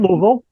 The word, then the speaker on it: Louisville: WonderFest no I said I said Louisville Louisville right it's it's one Louisville yeah I said it right but the U yeah yeah